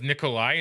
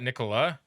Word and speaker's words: Nikolai: Oh, it's Nikolai, not Nicola? Have I been saying it wrong this whole time? Have I been missing the I?